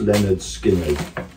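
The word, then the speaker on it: Lynyrd Skynyrd: Pronounced Leonard Skinner.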